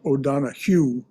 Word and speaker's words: O'Donohue: O'Donohue, by the way, is spelled O'Donohue, as we would say in English, but in Irish it's pronounced O'Donohue.